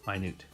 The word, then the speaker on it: minute: Newt um ooh well it's a single letter not the double O because there's this silent letter at the end which is an e hey my Newt and